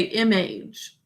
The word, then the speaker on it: image: In that unstressed syllable, it says a sound, but we should say image. Image, 2 syllables. First syllable, basic code. Second syllable, age, 2 sounds. J is g, j, saying its second sound because of a silent final E. So age, like what your age is.